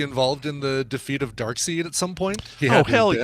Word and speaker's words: Darkseid: of people are correcting me I used to pronounce it dark side and then somebody told me no brand it's pronounced Darkseid and I could have sworn it was even